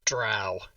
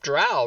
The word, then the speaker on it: drow: Fucking drow. Hit and run. For those of you watching the stream, drow rhymes with cow, and if you say dro, the answer is no. So just Another fire and miss.